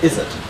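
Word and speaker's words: izzat: So, you might hear this pronounced izzet, with like an emphasized Z. And that's why they made it into two Z's. It's just that when it's pronounced in English, it's just a izzet. Just one Z sound.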